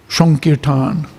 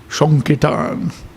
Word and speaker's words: Sankirtan: So he spelled it S-O-N-K-I-R-T-A-N. I thought, oh, that's interesting. That's how he pronounces it. Sankirtan.